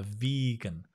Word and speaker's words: vegan: Or I'm a vegan, a vegan. I've been a vegan for years now. Notice the pronunciation. You've got the vegetarian, vegetarian, and vegan. Make sure the V is quite strong.